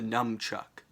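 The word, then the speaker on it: Nunchuk: the nunchuck is that it's actually called the num chuck like it's n-u-m-c-h-u-k spelled with just a k and no ck so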